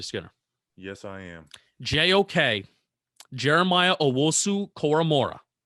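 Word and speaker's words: Jeremiah Owusu-Koramoah: JOK, Jeremiah Owosu Koromora. Pronounce that right.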